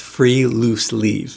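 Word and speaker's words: friluftsliv: So next time we're going outside to possibly against your will to talk about the next Nordic happiness concept, pronounced free loose leave, which basically translate as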